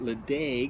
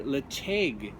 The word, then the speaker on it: Ledaig: but as you know the uh pronunciation of distilleries and whiskies in Scotland uh follows their language so anyway Le is the name of